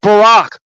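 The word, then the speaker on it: Baraq: I've talked about this before in Hebrew, B A R A Q. It's pronounced Barack.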